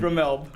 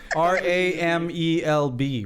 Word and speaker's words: Ramelb: Ramelb. Yeah, that's a joke because Moana keeps screwing it up. Aren't you guys like in several seasons now? Because it's spelled R-A-M-E-L-B, right? And the B is not silent.